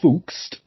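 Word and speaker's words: Pfungst: Now, despite their findings, a psychologist by the name of Oscar Funkst, with a silent fucking P and all, so this bloke's got credentials.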